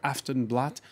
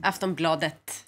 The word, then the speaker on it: Aftonbladet: Foreign editor Christopher Dickey is amongst us, as is Johanna Frundin, Paris correspondent for Swedish daily newspaper Aftonbladet. Welcome back. I mispronounced that. Aftonbladet.